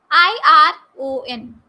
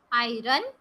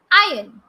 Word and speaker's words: iron: clothes not clothes clothes i r o n do you pronounce it as i run no it is not i run here r is silent so it is iron iron w o m